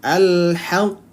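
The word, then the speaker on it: الحق: Al-haq.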